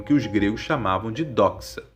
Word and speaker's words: doxa: os gregos chamavam de doxa. Se escreve assim: D-O-X-A, acento no O, doxa, que significa opinião.